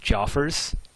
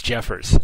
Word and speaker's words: Jeffers: Is it Joffers? Is it Jeffers? Somebody help me out. It's Jeffers. Oh, Jeffers. Alright. Sorry, Jeffers. Now I know. See, now people are trolling me, telling me it's Joffers.